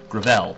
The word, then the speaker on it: Gravel: I don't know how his name is said. Gravel, that's how it's said.